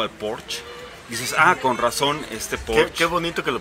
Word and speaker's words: Porsche: Pero cuando te explican por qué Dick tiene tanto apego al Porsche, dices, con razón, Porsche. Qué bonito que lo pronunciaste bien.